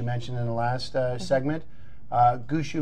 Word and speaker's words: Gushou: in the last segment gusu means drummer in Chinese there's different variations on how you pronunciate it goose ow and I'm probably not doing it justice there but it does